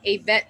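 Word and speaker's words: Ayvette: spelled like the key, and on Facebook, Avette. That's AY V as in Victor ETTE.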